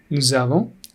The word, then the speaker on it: nous avons: Here we link it. Nous avons.